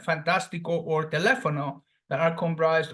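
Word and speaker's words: fantástico: from the end is Fantastico the same goes with the phonetic sound Falls on the third syllable from the end so this word is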